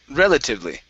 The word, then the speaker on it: relatively: this is relatively okay so the stress is at the very beginning relatively relatively okay good uh let's